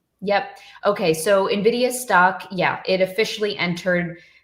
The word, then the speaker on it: Nvidia: You say Nvidia.